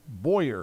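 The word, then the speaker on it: Boyr: Says Chevy Boy. It's not spelled that like Clint. It's spelled B O Y R. Okay. Clint is B O W Y E R. Yep. Chevy Boyer.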